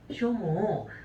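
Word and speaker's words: 所望: 소망이라는 단어 있을 거예요 쇼모 그 다음에는이 본망이라는 단어 있을 거예요 혼모 요거 두 개만 보우가 아니라 모으라고 읽어 주시면 돼요 둘 다 바람이에요 바람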